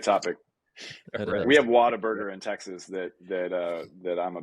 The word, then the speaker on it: Whataburger: No, yeah, Whataburger. Oh, gotcha. A lot of people pronounce it Waterburger, but Mm.